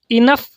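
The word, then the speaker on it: enough: So these are two words इनफ एंड टफ। सो इसके last के जो जी एच दो लेटर्स हैं उनका उच्चारण हो रहा है फ। इनफ टफ। फ यानी एफ।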